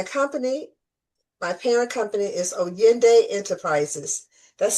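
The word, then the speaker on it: Oyinde: So to get in touch with me, my company, my parent company is O Yende Enterprises. That's spelled O Y I N D E Enterprises.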